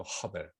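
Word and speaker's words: הבל: 히브리어 발음이. 카인, 카나. 하와는 또 가인의 아우 아벨을, 이게 허벨이라고 하죠. 허벨.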